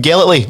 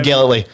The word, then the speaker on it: Gellatly: radio legend we've got none other than jim gellatly on the show tonight jim thanks for joining